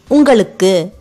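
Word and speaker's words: உங்களுக்கு: This lu is pronounced with a big L sound.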